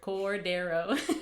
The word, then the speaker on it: Cordero: And, it's three syllables. I have to make sure. Cordero.